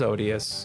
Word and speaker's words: odious: the Oh my god, how do I not know how to say o Because it reminds me of Osidius, but it's not that word. It's odious. Is that how you say it? Probably. Yeah, it's odious. Okay.